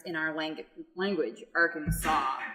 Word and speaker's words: Arkansas: in our language language Arkansas like saw as an SI w like a soft group according okay so the S on the end is simply a French addition to a silent one